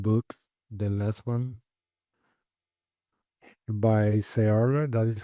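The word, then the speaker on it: Searle: The last one by Sara. That is how you pronounce Surl Surl.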